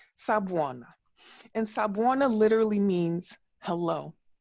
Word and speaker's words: sawubona: So moving into strategies, I want to introduce you to this ancient Zulu word from South Africa, and it's pronounced Sawubona.